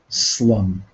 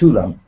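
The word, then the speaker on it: סולם: And it's the gematria of the word slum. But if you pronounce it like that, it sounds kind of bad. It's sulam.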